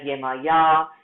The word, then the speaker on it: Iemanjá: your research on Goddess Iemanjá. I'm going to put her name in the chat box so that you know the spelling. She's also known as Yemaya and different other ways of pronouncing her name.